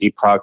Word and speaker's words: Epoch: at Epoch TV epic some people pronounce it Epoch some epic EPO yeah TV um that's their